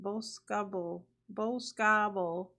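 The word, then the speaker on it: Boscobel: max level prison and Bosco Bell Wisconsin pronounced Babble babo on February 7th 47%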